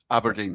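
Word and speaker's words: Aberdeen: Aberdine.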